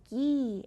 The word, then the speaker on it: ghee: It's called ghee, and it's used in a lot of Middle Eastern dishes. Let's see if it rhymes. Ghee, strawberry. Yes, it does. Ghee, strawberry. They both say E at the end.